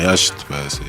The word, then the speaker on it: yacht: On dit un yacht, on dit pas un yacht, ça s'écrit yacht, mais c'est un yacht.